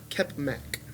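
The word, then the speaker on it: Kepmak: Kepmac. Kepmac. Kepmac. Captain Crunch. It is spelled K-E-M.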